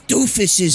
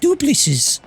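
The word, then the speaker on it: Doopliss: Let's leave these doofuses, Mario. No, it's pronounced duplices.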